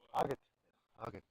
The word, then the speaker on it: Haggett: Haggett. Ek kon onthou. Hoeveel het ek toe gekry op die einde? 31. 31. Ja. Neil confirming that pronounces his surname as Haggett, and he scored 31